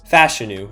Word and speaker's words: Fashanu: grab on the board is Olu Fashanu, or Fashanu as it's pronounced, out of Penn State.